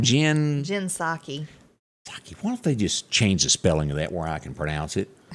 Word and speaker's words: Psaki: Jen Psaki. Why don't they just change the spelling of that where I can pronounce it? Take that silent P off of there.